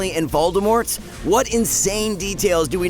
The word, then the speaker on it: Voldemort: pronounces it that way the name itself has french origins and in the french language everyone seems to hate the letter t just like the french